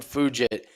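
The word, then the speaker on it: Fugitt: michael morales versus adam fujit and man what a what a missed opportunity uh i'm bummed his name is pronounced fujit because how great would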